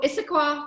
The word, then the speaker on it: Issaquah: bit more about what she does um so issaquah washington is that how i pronounce it is that your area yes okay